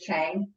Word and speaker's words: Chheng: Because my last name is Chheng. It rhymes, yep. It rhymes, the whole thing.